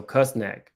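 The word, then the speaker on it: Küsnacht: I can't pronounce her home, but it's spelled Ksnacht, so Kusnak.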